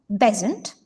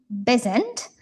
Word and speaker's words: Besant: Néanmoins, elle modifié à la prononciation en déplaçant l'accentonique de la deuxième à la première syllabe. C'est-à-dire qu'en fait en anglais, elle avait épousé Frank Bezent et après la séparation,